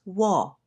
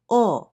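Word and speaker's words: を: We still have this letter, but we no longer pronounce this as wo. Now we simply say o for this letter.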